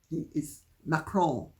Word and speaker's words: Macron: And incidentally, his name is not pronounced President Macron. He may be your crone, he may be even Brigitte's crone, but he's not Macron. He is Macron.